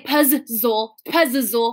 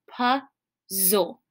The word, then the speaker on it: puzzle: next to each other, I don't say puzzle, right? I don't make the z sound twice. this first Z is silent. It's still there. It's just silent. So it says puzzle.